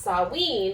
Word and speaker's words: Samhain: Because I know Samhain is pronounced Samhain, like S-O-W-E-E-N, but it's S-A-H-M-A-N or something like that, right?